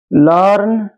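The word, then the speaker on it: learn: দাঁড়াও, আর্ন তো লার্ন, হার্ট, harm. আচ্ছা দাঁড়াও, আর্লি, আর্থ, দাঁড়াও তাই বলি, এখানে ফার বানানটা দেখো।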